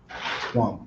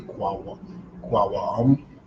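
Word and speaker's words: קום: Kwam, what that you see here, Kwam, Aquam. That means to rise or shall rise. Aquam. The wa, it's like in Shalom, you don't pronounce the wa like Shalom. To say Kwawam is Kwam.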